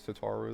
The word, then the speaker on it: Tataru: I dread to think eek eek tatu or tataru. I keep forgetting how to say it. It's tataru though.